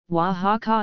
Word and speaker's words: Oaxaca: Oaxaca pronounced as however during the 16th century the voiceless fricative sound evolved into a voiceless velar fricative like the CH in Scottish Loch and Oaxaca began to be pronounced in present-day Spanish wha-ha-ha is pronounced or the latter pronunciation